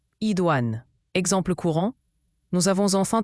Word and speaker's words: idoine: Idouan se prononce Idouan.